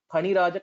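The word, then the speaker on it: फणिराज: is one word, and second point is this letter pronunciation of Phaniraja Kaushalim. Maybe in Hindi we say, yeah, in Hindi we say fal. Darshananyadigantum Phaniraja Kaushalim. Very good. In Sanskritam it will be pha.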